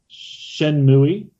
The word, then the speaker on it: Shenmue: Shenmue, which is how I pronounce it.